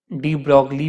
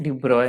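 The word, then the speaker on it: de Broglie: तो एक साइंटिस्ट है ना, लुइस विक्टर डिब्रॉय, डी ब्रॉगली भी बोला जाता है इनको, बट प्रोनाउंसिएशन डिब्रॉय है उनका। तो 1924 में साइंटिस्ट लुइस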